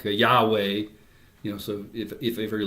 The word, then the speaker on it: Yahweh: German, we hear, and it's in the Hebrew it's YHWH. So we didn't use vowels. So Yahweh is how it would be pronounced, and literally it means I am that I am.